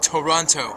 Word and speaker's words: Toronto: nice otherwise known as Toronto or as we say in the proper three syllabic format Toronto say it like me wishing you the very